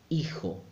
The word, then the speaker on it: hijo: Now, it's good to remember the H never sounds. So, every time you see an H in Spanish, don't pronounce it at all. Don't make any effort. So, hacer, hacer. Hermano, brother. Hijo, son.